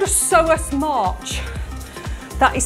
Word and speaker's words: psoas: Something called a psoas march. That is spelled P-S-O-A-S, a psoas march.